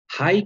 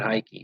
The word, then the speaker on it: Hike: the pronunciation on this it's a strange one okay hike it's not high key it's hike uh and the aeroplane and that was in 1912.